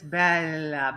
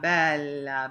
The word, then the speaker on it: bella: And when you said, Vieni non tardare, gioia bella, you really extended that la. And it's bella, bella, bella.